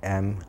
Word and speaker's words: Minami: and M-I-N-A-M-I. How do you pronounce that last name?